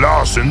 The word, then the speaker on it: Larson: I'm Larson the Fire Ogre. I'm called Larson because it rhymes with arson.